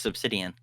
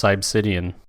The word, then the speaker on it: Cybsidian: I think it's just Subsidian. It's not. He told me it's Cybsidian.